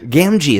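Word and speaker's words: Gamgee: say so Sean Aston or same wise gamji gamji is that how it's pronounced yes okay I clearly watched those films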